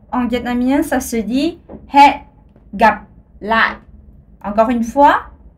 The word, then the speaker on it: hẹn gặp lại: Alors, je refais he, gap, la. Alors, une autre chose, c'est que dans la langue vietnamienne, le H, ça se prononce. C'est un H aspiré, c'est comme dans l'anglais.